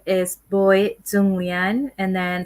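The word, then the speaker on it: Bawi: my son name is boy julian and then first name sounds like you know boy like boy but it's spelled b-a-w-i okay and uh so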